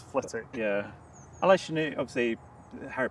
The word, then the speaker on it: Flitwick: a a W in had a wick at the end, but you don't pronounce the W. So, if you're not from the area, you'd always say Flitwick. It's Flitic.